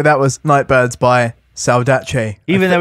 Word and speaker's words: Saudade: ] man so that was night Birds by salach even though it's spelled like salade they're Italian so s a u d a d e if you're interested but it's pronounced salach sounds like a dish tasty